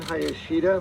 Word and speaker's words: Hayashida: the community advisory board hi i'm hayashida my last name is spelled h-a-y-a-s-h-i-d-a i want to thank the elected